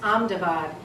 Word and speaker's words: Ahmedabad: to be called a medibot but now it's pronounced Ahmedabad and there are these ancient name for these